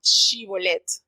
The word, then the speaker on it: Shibolet: Ellos le decían, no eres, le hacían la prueba, di Shibolet. Y ellos no sabían pronunciar la sh, sino decían la s.